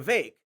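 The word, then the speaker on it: Vivek: an accurate description of the vake it rhymes with cake ramaswami who occasionally goes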